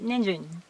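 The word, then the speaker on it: にんじん: If you read ninjin, it sounds nijin for Japanese. And maybe it sounds niji or niji. So you should keep one hiragana, one length. Ni, n, ji, n, 4 syllables. Carrot. Ninjin, not ninjin.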